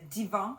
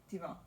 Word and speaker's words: Divan: So this is our Pure Wash DK in the Divan. How do you say that colorway name? Divan. Divan.